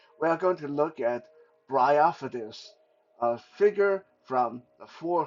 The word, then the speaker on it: Bryophytus: But no, I think it's pronounced Bryophytus. It's from a kind of moss or lichen called Bryophyte, and this guy definitely looks the part, right?